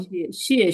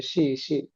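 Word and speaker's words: 谢谢: আছে এই শিয়ে উচ্চারণ শিয়ে শিয়ে শিয়ে। শিয়ে শিয়ে হুম, তো আমাদের একটু ভুলে আমরা এরকম বলি যে শি শি না শি শি, এটা ভুল হবে, শিয়ে শিয়ে।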